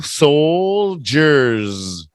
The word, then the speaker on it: soldier: like that big J so it's almost like soul and you use a j instead of the D jurors so all with an L soldiers one soldier no s